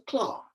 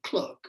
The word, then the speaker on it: clerk: My father, John Dickens, was a clerk, or clerk as you pronounce it, in the Navy office, equipping the